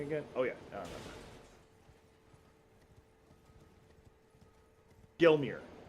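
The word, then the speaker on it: Gelmir: it up in Mount Gilmore. Gilmer. How the fuck you say that word? Alright, where am I going again? Oh yeah, I remember. Gilmere. I was saying it wrong.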